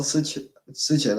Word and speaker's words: Sichen: You've got Albert, and then is it Sykin or Sychin? I always pronounce his name wrong. Well, it's a Chinese name, so in Chinese it's called Sichen, I believe.